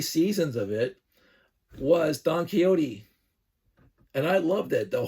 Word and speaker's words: Quixote: We put the X when we pronounce it quixotic, but we don't pronounce the X when we say Don Quixote.